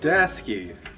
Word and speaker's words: Daseke: with guys I don't know it's Desy oh dasy dasy dasy this is spelled right yeah dasy Das oh dasy dasy